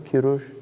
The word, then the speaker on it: Kurush: If you read the story of, if you read in Herodotus the story of Kurush, Cyrus, is that how they say it in Persian? Kurush, yeah.